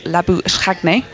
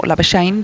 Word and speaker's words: Labuschagne: Where, of course, Marnus Labuschagne, or Labuschagne, depending on how you want whether to pronounce it, came in to replace